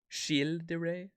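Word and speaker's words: Gilles de Rais: Pronounce it like Jill. Chil de Ray.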